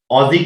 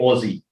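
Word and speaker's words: Aussie: को ऑजी कहते हैं, जो बेसिकली अगर आप प्रोनाउंस करें, और जो कि एशियन लोग हैं प्रोनाउंस करने में उनको प्रॉब्लम हो तो वो ओ से उसको रिप्रेजेंट करके ओजी कह सकते हैं, लेकिन लिखने में AUSSEI ऑजी कहा जाता है।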